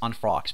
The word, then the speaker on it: unfrocked: unfrocked was a spoiled unfrocked priest the church unfrocked unfrocked pay attention to the sound at the end so an unfrocked priest